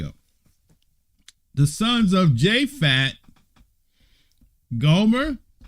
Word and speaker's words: Gomer: The sons of Japhet, Gomer, right? Magog, Madai, Yavan, Tubal, Meshach, and Tyrus, right? The sons of Gomer, or Gomer, spell the roll the R actually, it's Gomer, right?